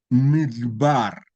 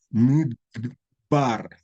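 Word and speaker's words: מדבר: Midbar, es como que es tan rápida que no se pronuncia, es muda, pero esta letra no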